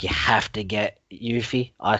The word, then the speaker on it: Yuffie: There is other bits and pieces that they've admitted, like you have to get Yuffie. I call it Yuffie. Everyone reckons it's Yuffie. It's pronounced.